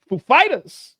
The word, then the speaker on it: Foo Fighters: Foo Fighters, he's like, do I put the accent on the Foo or Fighters? And they're like, on Fighters. And so when he comes like, ladies and gentlemen, Foo Fighters.